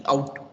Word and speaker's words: cout: Pronounced as cout. Okay, so that is what I am pronouncing. This is called as cout.